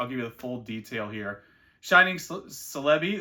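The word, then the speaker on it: Celebi: full detail here shining celei that's how I pronounce it like celery Japanese neo4 PSA 10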